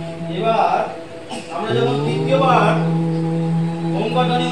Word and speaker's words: ওম: ধ্বনি উচ্চারণ করব তখন আমরা চার ভাগের তিন ভাগ অ আর মটা হচ্ছে এক ভাগ তো এবার আমরা শেখার